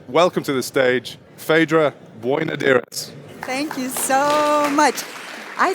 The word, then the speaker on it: Boinodiris: So I'm delighted to welcome to the stage Phaedra Boinodiris.